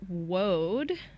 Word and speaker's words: woad: Okay, so I drew Woad. Whoa. Whoa. Yeah, WOAD. So, Rhymes with toad.